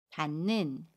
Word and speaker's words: 닿는: 입니다 같이 이웃과 첫소리 자음 미인이 만납니다 그러면 닿는 이라고 발음 해요 같이 2회 웃은 니은 으로 발음하고